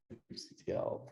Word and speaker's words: kubectl: Actually, there's an entire talk today at DevOps Days that will have about how to pronounce kubectl, this kubectl. I say kubectl personally.